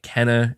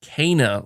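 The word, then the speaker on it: Kena: keep i keep pronouncing it wrong i keep pronouncing it kenna and i know it's pronounced kana you're saying by the way we've all been saying her name wrong would have never guessed it was pronounced cana like kane uh yeah i have to admit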